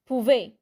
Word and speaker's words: pouvait: When the word ends with AIT, it's pouvait. AIT gets pronounced like an E with an accent.